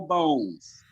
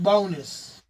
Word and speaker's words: Bones: his name ricky uh ricardo bones ricky bonus bonus yeah but it's pronounced bonus really oh yeah where's